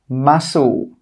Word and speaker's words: muscle: The first rule is that when the letter C comes after an S, it's normally not pronounced. Some common examples are scissors, muscle, ascend, conscious. You can see here that we don't pronounce the C after the S.